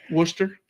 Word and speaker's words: Worcester: sister's house yeah yeah or any other British town like Lester or things that are just not pronounced the way that they're written Worcester yeah we're sure um